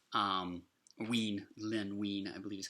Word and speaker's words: Len Wein: That was Len Wein. Len Wein, I believe is how you pronounce that name, actually.